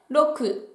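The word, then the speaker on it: 六: On continue avec le chiffre 6 qui se prononce en japonais roku.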